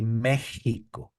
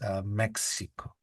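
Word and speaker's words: México: But the rule is that only for the word Mexico, the X is pronounced as. So in Spanish we say Mexico, I see. but in Okay. English is Mexico.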